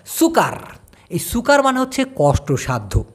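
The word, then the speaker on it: sukar: ইউ কে এ R video করলেই মনে পড়ে উচ্চারণটা হবে সরসু কয় আকার র সুকার এই সুকার মানে হচ্ছে কষ্টসাধ্য মনে করেন একটা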